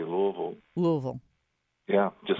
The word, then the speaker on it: Louisville: Are you calling from Louisville?